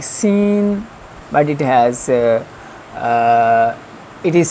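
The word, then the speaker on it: سين: place is this, that when the corner will touch to the upside front teeth, that then this will be pronounced sin, sin, sin.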